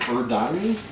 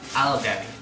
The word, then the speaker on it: Aldani: How do you spell it? You said Urdani? Aldani.